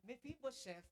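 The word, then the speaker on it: Mephibosheth: Now be careful when you when you pronounce his name because it's really a shameful thing if you mispronounce that meibo chef. Okay? Sino po siya? Mefibo chef.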